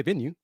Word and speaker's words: Venu: right here venue Sports venue pronounced like you say venue venue Sports the Innovative future